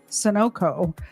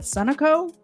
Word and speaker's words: Sunoco: pumping gas at the Sunoco. I always in my head call it Sunoco, and I know that's wrong. It's pronounced Sunoco, isn't it?